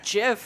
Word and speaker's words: GIF: It's just soft G GIF, guys.